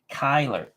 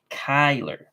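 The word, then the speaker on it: Cuyler: the I and the L R thank you Kyler I knew I wasn't pronouncing his name right Kiki Kyler he lines out to bogs Hershey are doing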